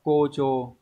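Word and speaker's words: 誇張: Từ này đọc là gocho, có nghĩa là khoa trương, mang tính chất khoe khoang quá mức, phóng đại ấy.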